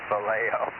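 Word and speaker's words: Vallejo: he he lives in Valley Joe he lives in Valley Joe or valo over oh okay well we being in San Jose we pron yes we do pronounce it bleo but I'll tell you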